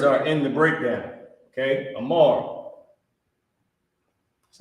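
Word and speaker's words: אמר: Amar. That's how you pronounce it.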